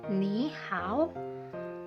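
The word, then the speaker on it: 你好: Tidak dibaca full nada ketiganya. Ni hao.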